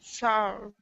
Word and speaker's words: sour: yeah, it's spelled like it would be sore, but it's pronounced sour.